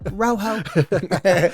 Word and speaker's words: Rojo: got rocho oh should we use the J is silent Rojo red right yeah is that Rojo yeah or